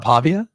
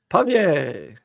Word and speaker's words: Pavia: got me UNC pavier it's not Pavia pavier I can't tell if you're not really answering you're just saying it up again pavier that that's how you would pronounce it in the booth you would say pavier so it's not pavier